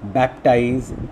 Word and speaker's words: baptize: Bap similarly is not stressed, it is ties that is stressed.